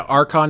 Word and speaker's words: archon: approached by a Hound is it archon is that how you pronounce it yeah archon it's Greek for leader um is what that